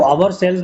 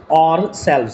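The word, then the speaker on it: ourselves: इसको आवर सेल्व्स भी पढ़ते हैं बच्चे, लेकिन करेक्ट प्रोनाउंसिएशन इज व्हाट? और सेल्व्स, C option is correct.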